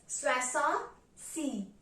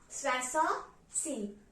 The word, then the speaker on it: soixante-six: So 66 is pronounced as soixante-six, soixante-six.